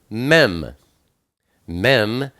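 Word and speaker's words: mem: Yeshua then we have me me is the number 40 and it's pronounced M like Mommy it's the picture of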